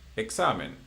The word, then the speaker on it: examen: one, examen. It ends in N or N. Examen.